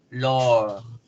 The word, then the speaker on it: lord: Lord, Lord. Oh, al alargar la vocal hago el sonido de la R.